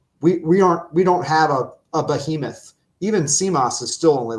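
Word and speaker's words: Tzimas: I'm going to butcher the pronunciation. Is it Simas? Simas, thank you.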